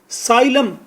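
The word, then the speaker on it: asylum: साइलम, ए को भी silent करें, साइलम। साइलम का मतलब है किसी को अपने मुल्क में रहने की इजाज़त देना कि इसकी जान को ख़तरा है।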